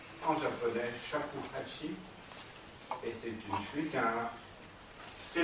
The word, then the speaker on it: shakuhachi: Ça a donné une flûte qui s'appelle Choba, un pied 8 pouces, et ce qui se prononce en japonais shakuhachi.